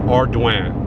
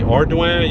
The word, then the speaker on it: Ardoin: And it might look like Ardoin, and but it's pronounced Ardoin. Now there's not too many variations that I know of, but pretty much if you say Ardoin, you're probably going to be okay.